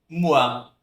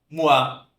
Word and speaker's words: moi: Um som de UA, como moi, moi, avec moi, comigo, né?